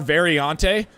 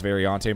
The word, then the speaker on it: Variante: Danush now coming through Ascari, which is, most of these are Variante. And I believe that's how you say it, is Variante, Mike, just in case, your Italian isn't that great.